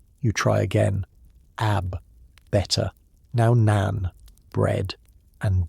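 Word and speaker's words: آب: "Ab," she repeats for the 15th time. "Water." Not ab-bar, not ab, just ab. You're adding syllables that don't exist. You try again. Ab, better.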